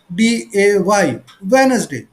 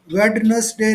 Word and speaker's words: Wednesday: WEDNESDAY, वेनसडे। वेडनेसडे नहीं बोलना है, इसको बोलना है वेनसडे। Venus, D is silent, D को आवाज नहीं आनी चाहिए।